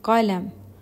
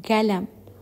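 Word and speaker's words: قلم: Sa formal na Arabic or formal Arabic, ginagamit nila ay qalam. Sa Saudi dialect naman, pinopronounce nila ito ng galam. Imbis na ka, ga. Sa Arabic Fusha or formal Arabic ay ka, qalam. Sa Saudi dialect ay galam.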